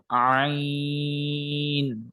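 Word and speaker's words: ع: যাবে আপনার শাখাটা যেমন এটা হচ্ছে আইন এটাকে একটু লম্বা করে পড়তে হবে চার আলিফ আমি এখানে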